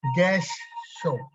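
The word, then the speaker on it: Gassho: You pronounce it Gasho, Gasho, first pillar. Second, Regiho, Regiho, Regiho, second pillar. And third is Chi-Ri-O, Chi-Ri-O. This is all the Japanese word. So it is pronounced like Gasho, Gasho, Regiho, Regiho, second pillar.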